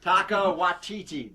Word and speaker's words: Taika Waititi: Taika Waititi, that's how you say it, folks.